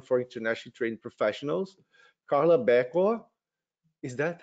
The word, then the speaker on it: Berquo: the mentorship program for internationally trained professionals carla becco is that how you pronounce yeah she is a manager at the canada's